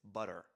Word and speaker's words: butter: And because of the fact that that next syllable is stressed, so it's t both times, but it's butter, water, it's like in Spanish, Spanish R.